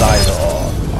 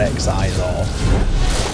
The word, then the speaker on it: Xizor: It's Xizor, or X-Xizor. Seems to be some confusion over exactly how it's pronounced. I've always pronounced it Xizor.